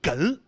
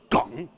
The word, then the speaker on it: 哏: 澳台以后，他们前后鼻音分不清楚，所以哏读成了梗。